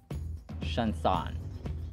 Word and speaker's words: chanson: The French term for a song is chanson.